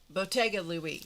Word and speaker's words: Bottega Louie: It's pronounced It's spelled with a T. Bottega. Bottega Louie, sorry.